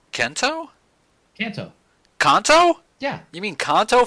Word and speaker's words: Kanto: Kento? Kento? Kanto.